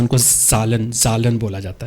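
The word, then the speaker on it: Zahlen: है, जर्मन ज़बान में जो नंबर्स हैं उनको जालन बोला जाता है, जालन, ठीक है। तो जालन का पहला जो लफ्ज़ है, जालन बोलेंगे या उनकी सालन प्रोनाउंस करेंगे जर्मन लैंग्वेज में।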